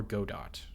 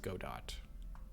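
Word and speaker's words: Godot: do D do DOT because their logo looks like a robot and robot kind of rhymes with go dot but I know that's somewhat of an unpopular opinion.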